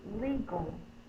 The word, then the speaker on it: legal: The next one is legal. the G, O. This word is the A, the same sound. Lee, long E, must be open syllable.